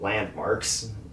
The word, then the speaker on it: Landmvrks: Uh the next one is a band called Landmvrks and it's spelled with a V. So Landmvrks.